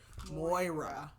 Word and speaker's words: Moira: pronounce Moira Moira Moira so you do say the r Moira okay Moira okay all